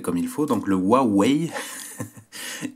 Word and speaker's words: Huawei: huawei nomme que voilà on m'a appris à prononcer le nom de la marque comme il faut donc le huawei y 330 donc je rappelle kim qui m'a